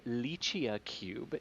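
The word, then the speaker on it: LICIACube: is indeed it's uh it is pronounced uh lychee cube and it is from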